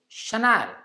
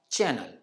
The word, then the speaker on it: Chennai: called Chevrolet and not Chevrolet this one is Chennai and not Channel surprisingly Zara is the wrong pronunciation while Tada is the correct one same